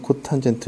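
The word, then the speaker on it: cotangent: CSC, SEC, COT 이렇게 나오는데 CSC는 코시컨트라고 읽어요. CSC라고 읽지 않아요. SEC는 시컨트, COT는 코탄젠트 이렇게 옵니다. 그래서 코시컨트, 시컨트, 코탄젠트라고 읽어요.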